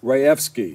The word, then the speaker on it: Rajewski: program development and I'm not gonna say your name wrong I'm gonna say it right Jennifer Rea F ski yeah very good of course if you look